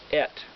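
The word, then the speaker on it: את: words aleftav it's pronounced et which is sounds like it's spelled e t then it says hashamayam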